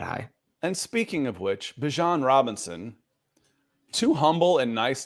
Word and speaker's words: Bijan: I guess my name, how you pronounce my name is Bijan. Okay. Like, that's how you say my name. But I say Bijan.